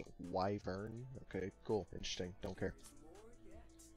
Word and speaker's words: wyvern: Did you know it's pronounced Wyvern?